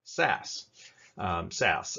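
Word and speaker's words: SaaS: we're going to call sas sas s-a-a-s it's pronounced sas sass with this you're not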